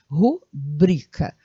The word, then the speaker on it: rubrica: falar como as forças a sílaba tônica que seria a segunda sílaba ou seja rubrica e não rubrica Tá bom então duas